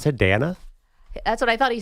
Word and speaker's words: Dana: So, so it's your name is D an A. Do you pronounce it Dana? Dana.